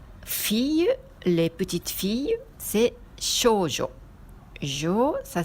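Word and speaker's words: 少女: Filles, les petites filles, c'est shoujo. Jo, ça s'écrit avec ce kanji qui veut dire les femmes.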